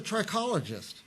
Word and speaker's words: trichologist: Kristina Sayre, she's a trichologist. Did I say it right? Yeah, you did. Trichologist.